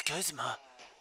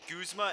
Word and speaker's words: Guzma: Some people pronounce it Guzma and some Guzma. Guzma. So it's gotta be Guzma. Because in Japanese, they don't have the G. So... And it doesn't really give me, like, an actual pronunciation of his name. So I go after the Japanese one, which is Guzma.